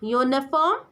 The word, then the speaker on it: uniform: Next is uniform. Because of U in uniform sound like Y.